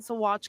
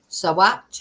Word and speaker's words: Saguache: The details about what happened to Edna are still fuzzy, but it's in her search that other remains have been found in Saguache County.